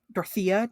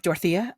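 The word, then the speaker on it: Dorothea: took her younger daughter Dorothy with her dorthia depending on what pronunciation you want to go with I like Dortha uh her younger daughter her younger daughter dorotha went with her and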